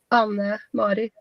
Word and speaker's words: Anne Marit: My name, I say my name Anne Marit.